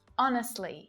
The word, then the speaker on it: honestly: The letter H can be silent too, and in a few different ways.